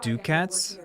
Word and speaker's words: ducat: We're hoping to get some rare drops, because rare drops are worth 100 ducats, and like I just don't know how to pronounce that.